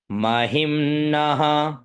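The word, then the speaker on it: महिम्नः: ऊपर रहेगा ठीक है चलिए महिम नः मही आधा म न और विसर्ग तो क्या उच्चारण करेंगे महिम नः पारते पार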